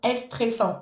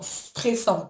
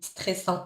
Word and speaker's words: stressant: Voilà, juste pour la manière de prononcer stressant, tu vas pas parce que tu le prononces un petit peu comme en espol comme en espagnol. Non, stressant. Non, stressant directement sans le stressant.